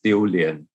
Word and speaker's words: 丢脸: In Chinese, it's pronounced as 丢脸.